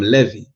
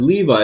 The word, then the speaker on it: Levi: That's not how you pronounce it. What do you mean? What the hell is a Levy? First of all, if you read it the way it says, it says Levi.